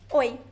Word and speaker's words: oi: Oi. Oi. The first O sound is strong. The E sound is very weak.